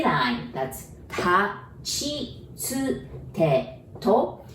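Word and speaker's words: ち: And again, we have to be careful with the second one because we would want to pronounce it like T. And then again, we don't have that sound. So we pronounce it like C-H-I, chi, ta, chi, tsu, te, to.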